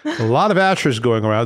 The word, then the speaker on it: Asshur: Asshur. A lot of Asshurs going around. It's the Greeks who couldn't pronounce it right and ended up calling it Assyria, as they screwed up everybody else's names.